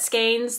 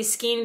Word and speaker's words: skein: to hold your skein i understand that skeins the right way to say it it just feels awful it feels awful coming out of my mouth like that i just read the word in my head a certain way my whole life like i can't break it i'm so if it's irritating you i'm so so so so sorry and maybe you also in your head say skiing because it's how it's spelled and it feels nice